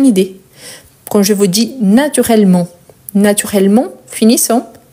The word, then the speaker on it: naturellement: à la fin mais je ne prononce pas le T mais quand il s'agit